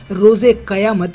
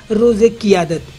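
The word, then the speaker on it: रोज़े क़यामत: आपको बता दें कि समारोह में जब राष्ट्रपति ममनून हुसैन ने रोजे कयामत यानी फैसले का दिन कहा, तो इमरान ने इसे ठीक से नहीं सुना और इसका गलत उच्चारण कर दिया। इमरान ने कहा रोजे कियादत यानी नेतृत्व का दिन।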